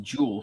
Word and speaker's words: Juul: started at 2 yeah J uul pronounced Jewel settlement could juul l pronounced Jewel settlement so is this